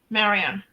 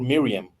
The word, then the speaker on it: Mariam: I know that like in Arabian countries, the name Maria is Mariam. Mariam. It's pronounced like that, teacher. I don't know if I am right or not. Yeah, you are. It could be Mariam or Miriam.